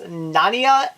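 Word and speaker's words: Naina: 2, The Killing Grounds, I guess it's pronounced Nania, N-A-I-N-A, Night Feeders, The Other Side, and Within the Rock.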